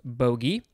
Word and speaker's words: bogey: Number two, pronounced like bogey or boogie or bogey, something like that. It is a source of fear, perplexity, or harassment. Number three is pronounced bogey.